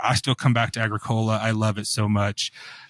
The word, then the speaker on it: Agricola: stays the same champion in midgard and then Agricola I know it's pronounced Agricola but a southerner is called Agricola love Agricola